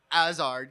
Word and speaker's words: Hazard: Hazard, because they don't pronounce the H.